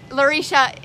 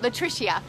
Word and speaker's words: Latricia: great deal oh goodness lorisha I said your name wrong Oh Latricia oh my goodness it